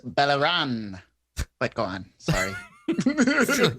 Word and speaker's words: Beleren: I believe it's pronounced Beleren, but go on.